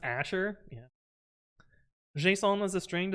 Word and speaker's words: Azure: I'm gonna like that one so much it's pronounced Asher yeah Json was a string do they use